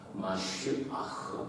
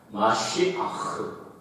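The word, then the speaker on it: מָשִׁיחַ: 영어로는 미사야라고 그러는데 그것이 히브리 말로는 정확한 발음은 마쉬아흐 이렇게 발음합니다. 마쉬아흐.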